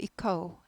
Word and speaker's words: echo: 오우 발음이 납니다. echo 아니고 echo 이렇게 돼요.